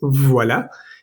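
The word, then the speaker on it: voilà: También está la combinación de la o y la i, que es bastante e bastante conocida porque la palabra más conocida en francés es voila. Y voila precisamente se escribe voila. La o y la i en francés siempre va a sonar wa.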